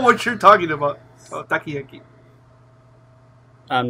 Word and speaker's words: takoyaki: Yeah, no, it's food, but you're pronouncing it wrong. Takoyaki.